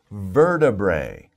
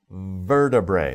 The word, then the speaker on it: vertebrae: of a difficult word let me spell it for you ver ta bray so verta bray vertebrae vertebrae that's a little more of